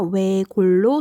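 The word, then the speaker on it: 외곬: 외골은 어떻게 발음해야 할까요? 그렇죠. 앞자음 리을로 발음해서 외골로 소리 납니다.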